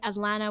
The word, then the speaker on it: Atlanta: really pronounce our T's people from Atlanta say Atlanta without T's it's a great historical